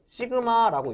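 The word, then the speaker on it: σ: 시그마라고 읽습니다.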